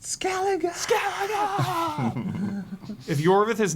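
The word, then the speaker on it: Skellige: Gosh, it's pronounced Skeleigga.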